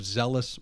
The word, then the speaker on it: Zellus: Carl Holden, founder, creative director of Zellus Marketing. Did I pronounce that correctly?